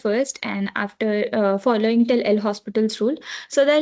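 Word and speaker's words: L'Hôpital: So they're like people call this L hospitals as L opt L optiples also L opts as like it's like that L hops. So there are different pronunciations for it but if you just go by what it's written it's L hospitals too. So I call it as L hospitals.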